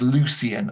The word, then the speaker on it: Lucian: His name's Lucian, obviously. But in this point in time, they pronounce C's as hard K sounds, hence Kronos with his K.